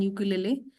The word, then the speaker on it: ukulele: There are so many song, so many artist who are playing these days on यूकुलेले, so that is यूकुलेली बोलते हैं उसको, यूकुलेली, L E L E।